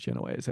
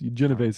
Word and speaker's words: Genoese: You think it's Genoese, not Genovese? It is Genoese, yes. Genovese is also a term, but that's the more preferred.